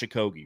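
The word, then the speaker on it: Okogie: Josh aoi's name and it's j it's Josh aogi right yeah dude it's funny to listen to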